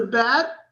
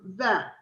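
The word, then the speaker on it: ב: If it has a dot, it's a bet. Yeah. If it has no dot, it's a vet.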